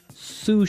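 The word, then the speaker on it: sous: our second word sush suf suf suf s o u s so that s is silent because it's like a French word yeah something like that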